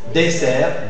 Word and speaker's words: dessert: clé cl clé voilà pensez à disert mais vous dites désert dessert pardon dessert dessert cellulle cell cellul et